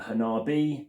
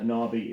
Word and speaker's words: Hanabi: what they say but Hanabi because it does look hanab or otherwise of saying it Han a I've heard a few ways of saying it but Hanabi is how it's said correctly and lastly I do